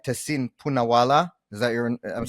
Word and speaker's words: Tehseen Poonawalla: Tehseen Poonawalla.